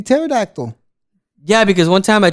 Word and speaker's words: pterodactyl: So let's just say the P could be silent. It could be pterodactyl.